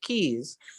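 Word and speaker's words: cays: northern islands a collection also known as k's pronounced keys i you might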